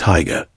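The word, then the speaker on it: Haigha: His name is Higa. He pronounced it so as to rhyme with mayor.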